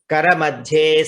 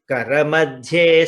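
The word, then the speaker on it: करमध्ये: Karamadhye Saraswati. Karamule tu Govindaha. Prabhate Karadarshanam. So here in pronunciation you have to be careful. Kara madhye, dha is mahaprana.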